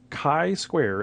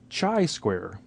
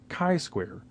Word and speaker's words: chi-square: pronounce it correctly it is Kai Square as in kite not Chi as in cheetah not a chi square or chai as in chai T it's not chai square it is Kai Square so I've been in